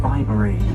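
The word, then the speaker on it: Bibury: But if you remember bye-bye Bibery, it should help you out there.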